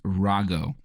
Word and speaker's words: Rago: her maiden name is Rago, which is a tough name to read on a piece of paper. So she would say, it's like Ra-go all the time Okay.